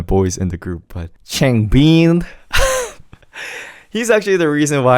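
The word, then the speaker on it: 창빈: Just make sure your lips are still Changbin. Do you see the difference? Don't make it Changbin. Keep the lips sealed, and then the pronunciation would be more correct. So Changbin is the right way to pronounce his name.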